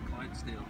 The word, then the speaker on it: Clydesdale: Look, we are at the, I don't know how to pronounce the name of the horse. Clydesdale.